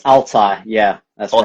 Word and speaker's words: Altay: It's Altai, yeah, that's Altay.